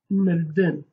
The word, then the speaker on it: mirdin: But if I say to die, we basically say mirdin. Mirdin. You don't pronounce this I. This I is called bizroka. You don't pronounce it, but you write it.